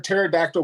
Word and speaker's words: pterodactyl: Why can't you hear a pterodactyl going to the bathroom? Oh, the P is silent.